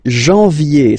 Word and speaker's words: janvier: wow, no, but anyway, janvier, so that's the way to pronounce it, janvier, A-N, en, okay, and then yé, yé, yé, janvier, then comes février, février,